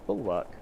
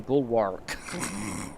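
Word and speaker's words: bulwark: Say bull work. Oh, bull work. Is that how you say it? I always I always try to put a really heavy L at the end. I end up with saying bullwark. I don't think that's how you say that one at all.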